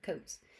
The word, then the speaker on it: Coates: Yes, just like what you wear in the winter, Coates.